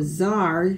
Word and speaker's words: czar: So czar sounds like it would start with the Z, doesn't it? And then here's our word Czech. That doesn't look like Czech, but that's how you say it.